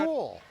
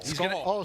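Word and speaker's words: Skule: How do you pronounce that last name, Jet? School. Justin School. Skull. Skull. Sorry.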